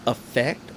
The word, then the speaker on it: affect: Affect, it's spelled like affect, but it's pronounced affect.